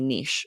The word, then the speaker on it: niche: your Regional dialect so I would definitely say nich lindsy because I think Niche not everyone would know what you mean that's I didn't even